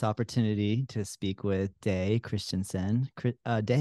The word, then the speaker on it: Christensen: Did I I'm pronounce well, did I pronounce your last name correctly? not totally correctly, but Can you almost correctly. can you correct me? Yeah, it's Christensen. Christensen.